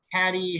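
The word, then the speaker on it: Cady: Her name is Caddy Heron. Where are you, Caddy? Oh, that's me. It's pronounced like Katie.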